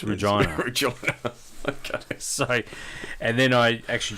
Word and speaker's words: Regina: Peace River and then over to place called Regina that's how you say it that's it that's how you say really that's how it isn't there a Gina no it's rejoin a job and then I actually drove into the u.s.